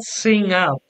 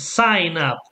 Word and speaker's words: sign up: Not sing up. It's sign up.